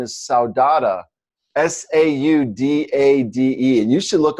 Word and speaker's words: saudade: And then there's another one that's not so great called, the pronunciation is saudade, Saudade.